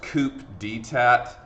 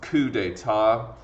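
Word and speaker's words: coup d'état: with the coup d'etat this is not pronounced coop dtat okay mr knight when did the coop detat um happen like it's it's coup d'etat brew mare uh the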